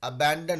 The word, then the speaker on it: abandon: देखिए, उसका प्रोनाउंसिएशन पे थोड़ा ध्यान दीजिए. अबैंडन होता है वो, ठीक है.